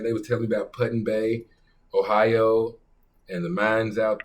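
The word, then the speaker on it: Put-in-Bay: town called Puttin Bay P UT put and Bay that's how he pronounced it so that's how I'm pronouncing it like ALB Georgia but puton Bay Ohio and they got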